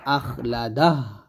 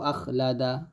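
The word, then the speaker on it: أخلده: আমরা এরকমভাবে বলি, ইয়াহসাবু আন্না মালাহু আখলাদা, এই যে আখলাদা, এরকম বললে কিন্তু হবে না, বলতে হবে আখলাদাহ, এরকম,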